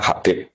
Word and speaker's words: Habib: Itu di harokatnya kitab, itu ada yang nulis Hubab. Yang benar, oh enggak, yang benar itu bacanya Habib.